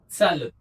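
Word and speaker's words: Zahlen: मैं आपको बता दूं, एच बीच में आ गया तो साइलेंट हो गया, ई एन लास्ट में है तो अन है, बाकी कोई कॉम्बिनेशन यहाँ है नहीं, तो हमें क्या बोलना है, सा ल और अन, सालन, सालन, राइट।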